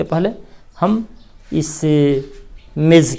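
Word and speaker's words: Ms: तो ये लिखा तो ऐसे गया है, लेकिन इसका उच्चारण है मिज, मज, हल्के से उच्चारण, मिज मज दोनों हो सकता है।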